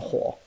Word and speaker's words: 火: Okay, that's a huo, and also another form of huo.